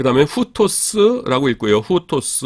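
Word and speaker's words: οὗτος: 그 다음에 후토스라고 읽고요.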